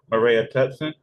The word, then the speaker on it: Maraea Tutson: another time and another time help coach uh Mara tutson I said it right this time yes got